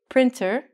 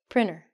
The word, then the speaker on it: printer: We don't say printer. We say printer.